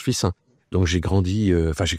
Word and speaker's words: Fixin: épouse j'étais de fissin ça sécit Fixin mais ça se prononce fissin donc j'ai grandi enfin